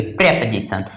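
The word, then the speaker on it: preposition: प्रेपोजिशंस, प्रेपोजिशन, यहां ध्यान रखेंगे कि प्रेप को एक साथ पढ़ेंगे, ओ को क्या करेंगे, नहीं, साइलेंट कर देंगे, प्रेपोजिशन।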